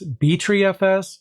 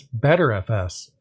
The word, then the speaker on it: btrfs: you pronounce it i've actually heard of it pronounced as b3fs as well as better fs and the thing is these pronunciations are pretty